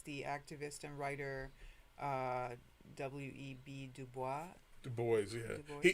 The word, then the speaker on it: Du Bois: Du Bois? Du Bois, yeah. Du Bois. He pronounced it Du Bois because he was trying to divorce it from the French.